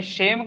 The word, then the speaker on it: shame: चलिए 6 नंबर भी कर लिए ना, 7वां में बताइए शेम का मतलब क्या होता है। SHAME शेम बोले, हम सेम नहीं बोले हैं, ध्यान से सुनिए। SHAME सेम, तलव्य श का उच्चारण करिएगा।